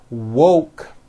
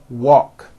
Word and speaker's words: woke: mispronounce these two words instead of saying woke when they say it it sounds like walk so instead of saying